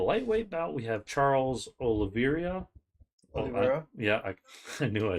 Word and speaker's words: Oliveira: For the lightweight bout, we have Charles Oliveira.